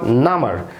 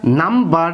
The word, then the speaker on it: number: এখানে মূলত এটা নাম্বার না, এটা হচ্ছে নাম, NUMB, এটা হচ্ছে একটি অ্যাডজেক্টিভ।